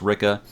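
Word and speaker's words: Ricke: I was like wow I've been seven saying Rick the whole book but it's Ricka Rik que es pronounced Ricca I won't tell you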